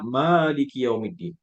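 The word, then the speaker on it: مَالِكِ يَوْمِ الدِّينِ: Kalau kiraat Hafsin an Asim yang biasa kita baca di Indonesia, itu membacanya Maliki yaumiddin, ya, panjang ma-nya, ya.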